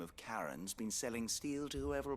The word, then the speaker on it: Charon: rumors on Karen then that's how they pronounce her name I'm not sure why I know it's not sharing but it's Karen and I keep saying sharing because every time I see your native how I want to pronounce it within my brain but it shouldn't be